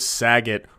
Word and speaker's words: Saget: It's amazing talking about Bob Saget, because the word Saget rhymes with a word I would like to use to describe Don Lemon.